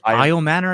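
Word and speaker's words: Elic Ayomanor: Good good pronunciation on that one. Elio Manor, that's how you say it.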